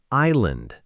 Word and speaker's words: island: Island is spelled i s l a n d, but the S is completely silent. We simply say island, like the words eye and land put together.